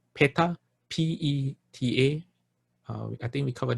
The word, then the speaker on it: peta: hungry ghost hungry ghost in pali is called peta p-e-t-a i think we covered that last week